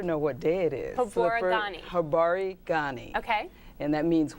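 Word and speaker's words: Habari gani: Habarigani.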